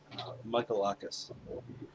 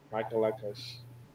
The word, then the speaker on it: Michalakis: says on the screen when Spiros I can't pronounce his last name. Is on Michalakis. Michalakis. Yeah, if you just say Michael and then just say something else at the end, you'll be pretty Michalakis. close. Like Michalakis.